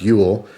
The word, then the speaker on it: Jul: it says during Jewel jul pronounced Ule Swedish for Christmas children